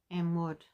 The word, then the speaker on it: Anwood: Amwood. A N W O O D. like wood with a in the front.